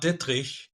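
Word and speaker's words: Dittrich: It's it's pronounced Ditri.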